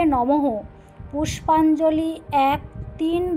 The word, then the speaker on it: নমঃ: মন্ত্র এস চন্দন পুষ্পাঞ্জলি ওম শ্রী লক্ষ্মী দৈব নমঃ শ্রী উচ্চারণ হবে শ্রেয়ং নমঃ উচ্চারণ হবে নমহ পুষ্পাঞ্জলি এক তিন বা